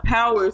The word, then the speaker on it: Pxwer: Power spelled with an X, PXWER, is the son of Method Man.